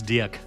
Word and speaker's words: Dirk: If you want to pronounce my name correctly, it's Dirk, but it's very difficult for Dirk.